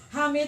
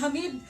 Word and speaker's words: Hamid: Thank you so much to our Minister, Attorney Hamid Aminuddin Bara. Na-correct ko na ho, sir. Dati, pinapronounce kong Hamid, pero sabi na sir, magkaiba ang meaning ng Hamid at ng Hamid. So that's the correct pronunciation.